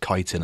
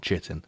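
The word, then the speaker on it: chitin: of playing art before I realized it was pronounced kiteen and not chitting not chitting there's a lot of people say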